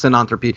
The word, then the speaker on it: synanthropy: But yeah, no, that's it's synanthropy. You say it like you say cyan, or whatever.